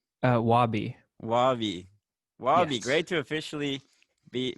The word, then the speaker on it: Wabie: nice to actually talk yeah how do you pronounce your name before i say it wrong uh wabi wavy great to officially be be looking at